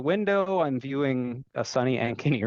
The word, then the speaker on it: Ankeny: all or maybe first direct me on the pronunciation I'm sure I slaughtered it so it's called Ankeny Ankeny yes Ankeny and actually that's where I'm